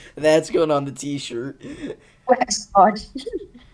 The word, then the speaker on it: Waxahachie: Waxahachie. Waxahachie. I'm so sorry. How do you pronounce it?